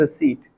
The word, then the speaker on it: receipt: आप उसे रिसिप्ट बोलती हो, उसे रिसिप्ट नहीं बोला तो उसे बोलता है रिसीट। रिसिप्ट का सही प्रोनाउंसिएशन होता है रिसीट।